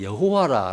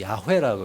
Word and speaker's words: 야훼: 요드해 바브해 이제 이렇게 돼 있는데 그걸 그대로 읽으면은 예전에 저는 이제 여호와라 우리는 배웠는데 좀 더 성경에 가깝게 읽으면은 야훼라고 있는 게 좀 더 저 발음에 가까운 발음이에요.